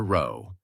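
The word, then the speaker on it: rho: The true unknown correlation coefficient for the entire population is represented by the Greek letter row, R. It's pronounced R O.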